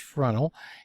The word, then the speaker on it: Fresnel: that it looks like fresnel but it's actually pronounced frontal and something called earth bulge so let's take